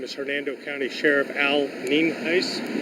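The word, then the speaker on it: Nienhuis: again my name is Hernando County Sheriff Al Neen ice spelled n-i-e-n-h-u-i-s and it's pronounced uh we're here out at cheever Road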